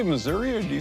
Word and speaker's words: Missouri: And do you say Missouri or do you say Missouri? Missouri. What's the right pronunciation? This is Missouri.